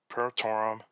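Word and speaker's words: perotorum: And so sometimes these names are very hard to pronounce, and so it's Paratorum, Canadensis, and Lacustai.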